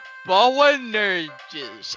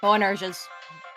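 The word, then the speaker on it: Boanerges: Bowanerges. AZ. Yup, that's how that's set. That sounds about Sure. right. Bowanerges. You can make a soft G if you want.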